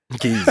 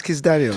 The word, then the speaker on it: Kizz Daniel: You say Kizz Phonetically, Daniel. it's like We're not like Kizz. keys. We don't say Kizz. Keys, nah, keys is in Daniel. it. They're like, it's Kizz Daniel.